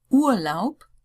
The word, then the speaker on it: Urlaub: Urlaub, schreiben, Club, Bankraub, schreib auf, so schreib. Nearly all of these had the P sound rather than the B.